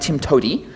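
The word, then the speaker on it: TIMTOWTDI: way to do it which is pronounced Tim to um I'm going to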